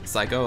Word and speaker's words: Psycho: Psycho, it's not Psycho, it's just Psycho, like the movie Psycho. I'm not sure why it's silent.